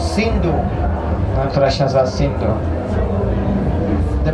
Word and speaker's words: Sindhu: tu są Indie, Here is a river tu jest rzeka, called Sindhu. która się nazywa Sindhu. The Persians, Persowie they don't pronounce the S like that, they pronounce it like nie Ha.